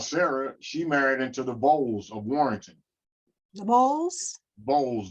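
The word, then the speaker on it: Vowles: census but uh vod v-o-w-l-e-s is the correct spelling like dowels yeah or bowls but it's just with a v okay okay okay and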